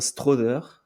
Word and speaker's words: Strawther: Julian Strother, né le 18 avril 2002, on dit bien Strother, si vous voulez prononcer correctement.